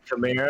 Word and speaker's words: Kamara: Everyone says Kamara. Not everyone, but like over 70% of people say Kamara. It's Alvin what'd you Kamara. say? Is that what it really I is? say every name wrong. Yeah, I mean, I trust her. It's Camaro.